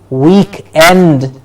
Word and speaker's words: weekend: the week which is week end so we have to save it with a stress on week week end week end so